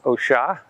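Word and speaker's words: Oshá: The first one is OSHA, OA, with an accent on the A.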